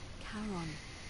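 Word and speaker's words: Charon: it's just as you described it only your pronunciation is it was c h a r o n as in karon the Fairman of the Dead Kon who in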